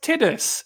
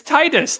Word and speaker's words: Titus: record why would why would you think it's pronounced titties it's Titus that Titus is a name Perez ship teacher